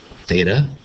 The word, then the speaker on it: theta: an angle in radians is Theta and that's pronounced Theta t h e t a e theta equals